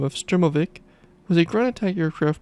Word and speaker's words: Sturmovik: meaning ground attack aircraft the word also appears in western sources as uh stormovic and sturm novak neither of which give correct pronunciation in english with 36 1883 units